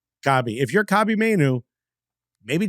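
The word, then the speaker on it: Kobbie: Pronounced Kobe.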